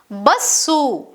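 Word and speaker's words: ಬಸ್ಸು: Similarly, we have sa, which is pronounced as bassu. Bassu, which means bus.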